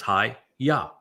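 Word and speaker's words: היה: And ha tells you how to pronounce the ah the he and the yod. It's hi ya.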